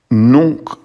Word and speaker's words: nunc: For nunc, the N before a C would be pronounced like an NG. So it's not nunc, it's nunc, nunc.